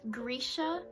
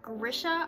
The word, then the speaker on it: Grisha: Also, apparently it is Grisha, not Grisha. I was right. If any of y'all watched my Rule of Wolves video, I was pronouncing it Grisha because I saw someone else say that was how you actually pronounced it. It's not, it's Grisha. I was right the entire time.